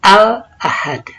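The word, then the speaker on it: الأحد: Di situ ada alif lam, a alif lam. Dibacanya al-ahad. Alif ya, dibacanya al. Dibacanya al. Contoh al-ahad, tertulis al-ahad.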